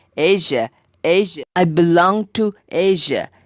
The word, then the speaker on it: Asia: The spelling is A-S-I-A. But the pronunciation is like A-I-S-A. That makes it Asia.